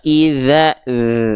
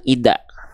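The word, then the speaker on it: إذا: sehingga ketika kita lafalkan Bacanya adalah Kalla idza harus ada ngalir suaranya idza bukan Ida ya oke itu yang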